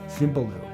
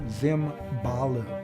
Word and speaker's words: Simbalu: and be quiet is Simbalu. And so he wrote that down phonetically for himself, but instead of Simbalu, he wrote Zimbalu.